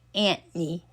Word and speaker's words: Anthony: She actually dated this guy, and they pronounced his name Anthony, like where I might say Anthony or most people, but his name was Anthony.